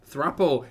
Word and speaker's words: throuple: Thruple. It is pronounced thruple, like couple, not thruple, like couple. Come on.